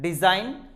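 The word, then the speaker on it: design: डिजाइन, तो आपने देखा जब कभी भी जी आता है बिफोर एन, एन के पहले आता है तो हम जी को प्रोनाउंस नहीं करते हैं।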